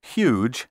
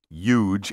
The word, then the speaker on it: huge: five syllables not six be sure to clearly pronounce the h in huge and human don't say huge and human for the